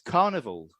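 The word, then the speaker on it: Karnivool: It's Carnival. Oh, nice. Yeah, and it's spelled, so Carnival's spelled with a K, K-A, and then Vool, V-O-O-L.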